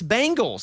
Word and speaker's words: Bengals: cinnati Bengal Bal Bangles no you're wrong it's Bengals like I'm saying you're saying bang like boom bang no Bangals what do you say Bengal you're saying the